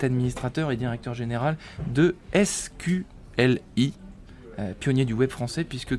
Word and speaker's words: SQLI: lanterne sur ce nom, SQLI? Et déjà, est-ce que c'est comme ça que ça se prononce et ça se prononce exactement comme ça, ouais.